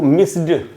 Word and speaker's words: missed: लेकिन अगर आप इसको ड बोलेंगे आई मिस्ड यू, तो बोलने में भी तो दिक्कत है ही, फ्लुएंसी भी टूटती है।